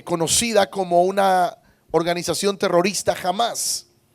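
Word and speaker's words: Hamas: como una organización terrorista jamás eh lo pronuncian así pero se escribe con h lo que sucede con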